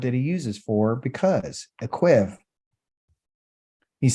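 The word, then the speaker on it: עקב: So the word because in Hebrew means akev.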